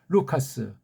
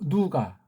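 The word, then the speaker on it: Λουκᾶς: 자, 오늘 그래서 다시 한번 좀 되새기려고 루카스, 일본 소리로 누가, 아니, 카스라고 우리 보통 한 가지 이런 소리를, 이걸 어떻게 누가라고 음역을 합니까?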